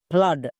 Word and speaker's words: flood: একই রকম ভাবে FLOOD, ফ্লাড, এখানেও দেখো ডবল ও আছে এবং এর ঠিক